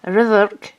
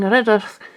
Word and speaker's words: Rhydderch: by her husband, King Rhydderch. That's how you pronounce 2 Ds in Welsh. So King Rhydderch of Strathclyde, who demanded to see her ring, which she claimed she had given to her lover.